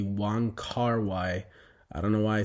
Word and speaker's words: Wong Kar-wai: I hope I'm pronouncing that right, War Kar-wai. Quick update, as I've been editing this, it's not at all War Kar-wai, it's actually Wong Kar-wai.